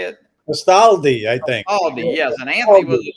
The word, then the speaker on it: Castaldi: Castaldi, yes.